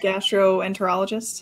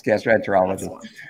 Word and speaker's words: gastroenterologist: to a gastro or gastrointestinal on lolologist is that is that the right way to say it what is that gastroenterologist yes gastroenterologist um so cool russ